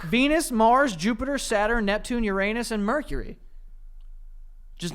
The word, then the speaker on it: Uranus: Venus, Mars, Jupiter, Saturn, Neptune, Uranus, and Mercury.